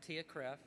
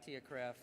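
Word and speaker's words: TIAA-CREF: the longest acronym so t-i-a-a-c-r-e-f I think it's pronounced Tia Cref and uh we have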